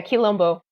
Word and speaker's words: Quilombo: Am I pronouncing that right? Yeah, Quilombo.